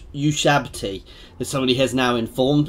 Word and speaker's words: Ushabti: They're not Ushbati, the Ushabti.